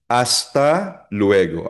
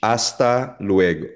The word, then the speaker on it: hasta luego: Hasta luego. Again, silent H. Hasta luego.